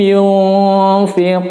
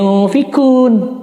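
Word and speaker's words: ينفقون: Yunfiqun, ada sedikit kayak engnya, cuma tidak jelas tentunya. Enggak sampai yung, tapi yunfiqun. Qaf jangan yunfikun. Fikun berarti pakai huruf kaf. yunfiqun.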